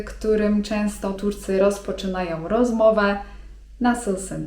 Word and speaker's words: nasılsın: nasılsın? (czyt. nasylsyn) I to oznacza 'jak się masz?'.